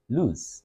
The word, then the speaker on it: lose: In terms of pronunciation, the one with just an O is pronounced as lose with the U sound and Z.